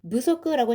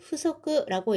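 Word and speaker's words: 不足: 후석는요 한국어로 부족이기 때문에 좀 무석라고 잘못 읽으시는 분들이 조금 있는데요. 이렇게 단독으로 읽을 때는 후석라고 읽고요. 명사에 붙으면 무속가 됩니다.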